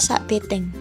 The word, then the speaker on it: sak biteng: Kata sate berasal dari bahasa Jawa dialek Ponoraken, yakni sak biteng, dibaca sak beteng, yang berarti satu tusuk, sedangkan di Madura pelafalannya menjadi sate.